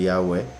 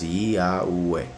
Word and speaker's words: Yahweh: Entonces Yahweh, Yahweh, como 4 vocales.